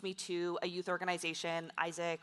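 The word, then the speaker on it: AIESEC: to a youth organization, Isaac, or Azek, as some people pronounce it, at the time, which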